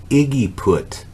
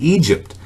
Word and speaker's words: Egypt: bookstore bible bookstore story she pronounced the word trying to sound it out she said iggy put and i i laughed so hard it was funny but it was egypt but she called it iggy put now the